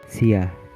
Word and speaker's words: siya: Sh, like in, Siya. meaning he, she, or it.